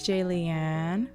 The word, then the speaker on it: Jaliane: Hey, it's Jaliane. Rhymes with Aliane.